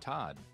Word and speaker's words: Todd: hi i'm your host todd and yes that rhymes with bod so feel free to